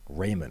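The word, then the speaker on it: Raimann: bernard ryman or um raymond apparently is how that's pronounced even though that's clearly not how it's pronounced if you have any kind of german heritage being austrian um uh or trevor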